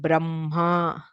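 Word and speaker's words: ब्रह्मा: Okay, we don't pronounce this as Ahnikam, even though the h is written before, it is pronounced as Anhikam, Vanhihi, Madhyanha, Aparanha, Brahma. So everywhere the Anunasika sound comes first and then the h, which is slightly toned down.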